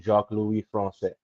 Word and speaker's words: Jacques-Louis Francais: I'm the crazy Canadian Jacques-Louis Francais. That's how you say it. See, Cat, that wasn't hard. You just got to go throw a little French on it.